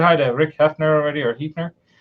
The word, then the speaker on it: Hefner: I think I said hi to Rick Hefner already, or Hefner. Hefner. I know it's spelled like Heaf, but I think it's Hef, like the Hef.